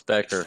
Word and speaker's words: Baecker: It's Baecker. The A is silent.